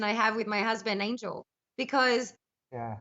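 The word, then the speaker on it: Ángel: husband Angel because yeah I call him Angel because that's the way his name is spelled and it's the greatest name in the world but he because it's a Spanish name he's Mexican he pronounces it unhel yeah but I want to say angel I mean to be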